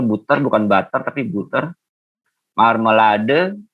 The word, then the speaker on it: Marmelade: Marmelade, ya jangan lupa huruf E-nya dibaca marmelade.